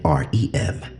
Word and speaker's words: REM: ADM and R EM, pronounced Adam and Rem.